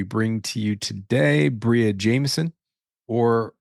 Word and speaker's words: Jamison: to you today Bria Jameson or or arguably in certain parts of the country may be pronounced Jameson which is part of